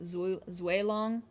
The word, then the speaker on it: Zulong: How do I say Zulong? I say Zulong because people bullied me. In reality, I think it should be pronounced Zuelong, technically speaking. Zuelong. But I say Zulong because y'all bullied me.